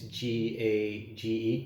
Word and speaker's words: Gage: for traumatic brain injuries and that's Phineas gauge that's spelled p-h-i-n-e-a-s uh gay as is g-a-g-e Gage yeah uh and so I'm looking at